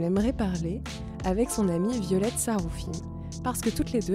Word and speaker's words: Violette Saroufim: j'ai le plaisir aujourd'hui de recevoir avec moi violette saroufim ça se prononce bien comme ça oui cool et estine